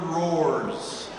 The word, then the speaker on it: horrors: That's always good to enunciate that second syllable there. Horrors. If you say Pet Shop of Horrors, people go, what?